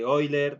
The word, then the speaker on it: Euler: El número de Euler, se pronuncia Euler, ¿no ve?